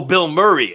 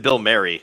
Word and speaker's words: Bill Murray: an ant-man in the wasp quan sylvania it's pronounced bill maher oh bill murray i think he said bill marry and i was like bill murray bill murray